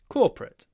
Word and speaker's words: corporate: lot of corporate events corporate two syllables corporate corporate corporate events